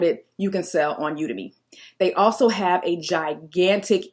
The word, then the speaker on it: Udemy: to start next one udemy or udemy there's an argument online about how to pronounce it I always say udemy because I think like Academy so that's why I said